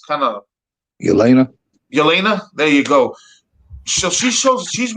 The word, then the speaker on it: Yelena: I always get her name wrong because it's kind of Yelena. Yelena.